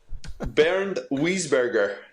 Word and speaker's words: Bernd Wiesberger: You've mispronunciated pronunciation. Yes, so I'm going to absolutely nuke this one. Bernd Wiesberger, the Austrian.